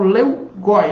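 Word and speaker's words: Lewgoy: vocês Leiam e estudem é o leugi não sei como é que se pronuncia né É É esse nome acho que é leugi mesmo que fala né l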